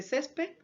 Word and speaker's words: césped: Césped lo hemos tildado porque es una palabra que tiene la mayor fuerza de voz en la penúltima sílaba y está terminando en una consonante D, que no es N ni S ni en vocal.